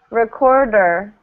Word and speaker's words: recorder: Computer, recorder. And actually, in this word, you hear it twice. Recorder. Right at the beginning and at the end.